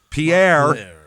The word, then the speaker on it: Pierre: which is called Pierre. Oh, Pierre. That is how the rest of the universe pronounces that word. P I E. They call it Pier.